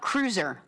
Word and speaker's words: Kreutzer: Cruiser, like the Land Cruiser, like a Toyota. So cruiser.